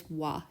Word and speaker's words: は: in a word it is ha however when we use it as a particle it is W it's pronounced W this is why you might occasionally